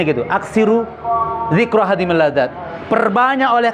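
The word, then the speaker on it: أكثروا: Ya, kata Rasul gini, aksiru, bacanya gitu, aksiru zikra hadimil ladzat.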